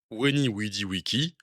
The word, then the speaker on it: Veni, Vidi, Vici: Les V sont en fait des U et se prononcent OU. Et la diphtongue AE se prononce aïe. Ce qui nous donne Weni Widi Wiki, Julius Caesar.